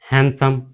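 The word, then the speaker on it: handsome: ऐसे ही हम हैंडसम, इसे हम हैंडसम बोलते हैं, इसे हम हैंडसम नहीं बोलते। ठीक है, यहाँ भी हमारा डी साइलेंट है, इसे भी हम हैंडसम बोलते हैं, हैंडसम नहीं बोलते हैं।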